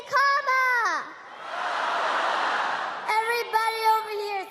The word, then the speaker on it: Kamala: do you pronounce it first you say comma like a comma in a sentence then you say la like la la la